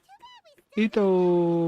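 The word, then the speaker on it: Itto: इसका इथो का प्रोनाउंसिएशन बहुत अलग लगता है. आया था कि इथो. It's इथो.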